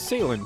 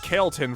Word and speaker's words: Ceylon: Edgeworth it's Ceylon tea if I'm pronouncing it right I still don't know I called it Kelton for the longest time but for some